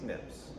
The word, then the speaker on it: SNPs: Yeah, which is pronounced SNP, pronounced SNPs.